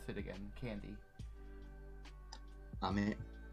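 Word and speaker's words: 飴: Ame. Ame, just like rain. Technically, there's a different inflection, but that is something I'm still working on myself.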